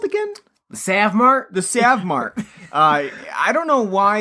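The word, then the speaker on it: SavMart: yeah that's Sam mark no one is ever gonna pronounce that a like a long a sound for that yeah but I mean I get what they're going for but yeah Save Mart so he works at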